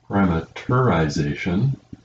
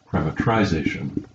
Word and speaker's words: parameterization: Now, technically, there are two different spellings and two different pronunciations of that last word. There's parameterization and parameterization. Both are correct.